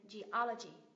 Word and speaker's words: geology: kết thúc bằng âm kết thúc bằng âm i dài cho nên là mình sẽ Nhấn và âm tiết thứ ba th ch lên geology geology tiếp này thuộc về